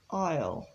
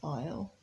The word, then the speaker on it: I'll: in the main clause I will can be contracted to aisle and on the right here you to see the phonetic pronunciation of aisle we will will you